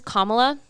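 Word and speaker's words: Kamala: fine I guess but but her name is kamla pronounce it as such and if you cannot pronounce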